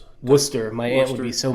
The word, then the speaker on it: Worcester: And we're coming from the Worester Centrum in Worester, Massachusetts. Worcester.